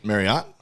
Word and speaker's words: Marriott: script for the Marriott they said pronounced like Chariot and I'm like nobody in the world is pronouncing Marriott right so I've never